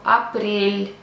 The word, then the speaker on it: апрель: So, let's talk about soft sign. In the Russian language, we don't pronounce it. It just makes a consonant soft. Example, апрель, апрель. If I pronounce without it, it will be апрель.